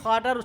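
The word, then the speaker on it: خاء: এই খ যেভাবে গলা সাফ করতে আওয়াজ হয়, এইভাবে আওয়াজ করলে এই খটার শুদ্ধ উচ্চারণ হয়ে যাবে।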